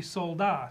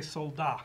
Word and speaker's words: Soldat: The owner said, well, yeah, it should be Soldat. So anyway, as of today, unless Larry Colmus, who is extremely meticulous about horse name pronunciations, changes it, we will say Soldat.